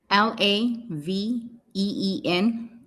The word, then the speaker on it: Laveen: Spell that. L-E. Laveen.